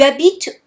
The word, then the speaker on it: habites: Again, remember, the H is silent, so you won't say tu habites où or où habites-tu. No, we do not hear the H at all. Tu habites où? Où habites-tu? Imagine that there is no H, that the H does not exist when you pronounce it.